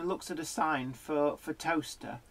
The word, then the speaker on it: Towcester: at a sign for toaster. There is a place in the UK called Toaster, but it's not spelt toaster. It's spelt Towcester.